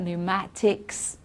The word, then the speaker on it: pneumatics: psychiatrist pseudo and then pn it's just okay pneumonia pneumatics okay we don't pronounce the p there at all so keep that list